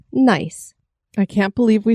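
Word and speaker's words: gneiss: it nce but but it's actually pronounced nice I can't believe we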